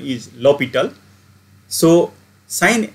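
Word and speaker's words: L'Hôpital: So people are also telling this as a L'Hopital, but correct pronunciation is L'Hopital.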